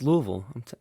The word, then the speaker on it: Louisville: biggest takeaway first of all is your beautiful pronunciation of Lille I think most people it's it's it's Louisville yeah it's Louisville I don't know how people that's terrible in